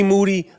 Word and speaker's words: Moody: Me G Moody, last name rhymes with duty at Irving Plaza.